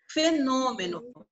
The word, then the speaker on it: fenômeno: O no é a nossa sílaba tônica. Essa sílaba, ela recebe acento agudo ou acento circunflexo? Circunflexo. Olha como é que o O é fechado.